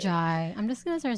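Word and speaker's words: Orji: How do you say her last name? Orgy. No. But like orgy? I'm pretty sure. I even like YouTubed how to pronounce her name because I was like, I don't want to fuck it up, but like I'm pretty sure that's how you say it. Orjai.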